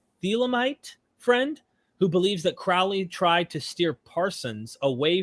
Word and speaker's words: Crowley: tell you that um apparently the right pronunciation is crowley because yeah because he wrote a poem where his name would rhyme with holly ah so cruelly holy